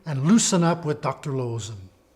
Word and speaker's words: Loosen: of the double O this is not pronounced ooh like we do it in English but o as in Dr loen so you can see